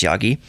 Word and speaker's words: Yaghi: Anyways, according to UC Berkeley chemistry professor Omar Yaghi, Yaghi, I assume that's pronounced Yagi, the device can be scaled up to provide an entire household with water.